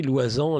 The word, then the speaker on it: Loisant: Donc Loisan, Sylvain, tout le monde sait comment ça s'écrit. Loisan, le nom L-O-I-S-A-N-T.